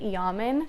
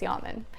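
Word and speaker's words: Yamen: I'm gonna pronounce it Yaman because I know it's spelled like ramen with a Y, and that's how I would pronounce ramen, so it's Yaman.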